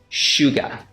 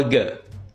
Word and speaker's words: sugar: ออก เป็น 2 แบบ แบบ UK ออก ว่า กะ sugar เน้น พยางค์ แรก sugar sugar แบบ US ออก ว่า sugar sugar เ